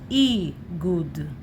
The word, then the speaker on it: איגוד: And here you see Aleph, Gimel, no Yod, because there is Nikud, but without Nikud we add Yod. And that's how you know that you should say this, Igud.